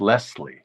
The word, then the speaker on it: Leslie: Yeah, because I guess pronouncing it with a Z is sort of a New Yorkism.